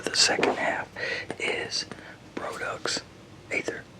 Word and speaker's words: Aether: second half is Produx Aether. Produx Aether, or Ether. It starts with an A. It's spelled ether, but then an A is what starts it off. So AETHER.